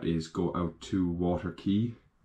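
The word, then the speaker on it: Caye: go out to water key I say key it's like c-a-y-e that's how it's spelled I pronounce it is don't really know but I'm gonna go with saying key um and again crystal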